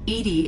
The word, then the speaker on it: EDI: why are you named Edie Edie is the phonetic pronunciation of EDI that is an acronym